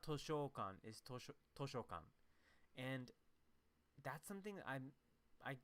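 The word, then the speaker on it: 図書館: we forget that it's sho not show right so it's not toshokan and that's something i'm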